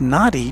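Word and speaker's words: Nadi: here says according to the Fiji Times it's pronounced naughty just like it's spelled well that's how I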